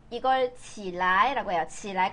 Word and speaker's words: 起来: 근데 얘를 뒤에가 경성이라 가지고 起来, 起来. 요거는 起床, 你起来, 起床, 你起来. 자, 발음하실 때 주의하셔야 돼요. 근데 이거 사실 起来라고 한 사람도 있긴 있어요. 네, 여기 경성으로 표시되어 있으니까 起来, 你起来, 일어나, 起来, 起来. 여기에 일어날 기자에 다 몰아줘, 성조를.